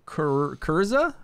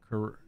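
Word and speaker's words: Kyrza: So I have Garius, Varesh, Adolphus, this new Kurza, I think is her name. Kurza? Something like that. I think her name is spelled K-Y-R-Z-A.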